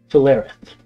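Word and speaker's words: Fulaerith: remember the capital of vidun it is philareth spell that f-u-l-a-e-r-i-t-h not long after I left and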